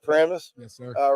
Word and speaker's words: Paramus: Paramus?